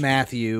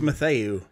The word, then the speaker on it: Mathieu: No, it's Matthew. No, it's Mathieu. Oh, the announcers call him Matthew. Well, they're wrong, because look at how it's spelled.